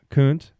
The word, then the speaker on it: Kuntz: You know, when I did the first vlog, it was Kuntz. That's how you say it, right? Yep. Yeah, Coons.